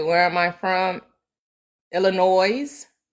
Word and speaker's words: Illinois: Illinois. Illinois. I know the S is silent.